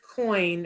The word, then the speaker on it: Coyne: we should say that lisa coin her name is spelled a little bit differently than what they were yes that's a good point so it's lisa and coin c-o-y-n-e um and she has